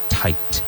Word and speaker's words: tight: Apretado, apretado, tight. Make sure you pronounce that second T. Tight, tight.